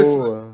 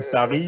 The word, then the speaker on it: Sarri: Genre, par exemple, genre, si si je tu nommes prononce pas bien, Saro à la place de Sarri.